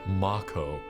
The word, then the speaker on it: Mako: game back in 97 me and everyone I knew said Mako we're ignoring the fact that in the remake they pronounce it Mach oh and we're calling it Mako fight me I don't